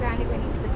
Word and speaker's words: anemone: Correct pronunciation is anemone.